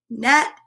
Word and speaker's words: gnat: nibbling at my gnocchi see that g is silent a gnome gnat and gnocchi that is a very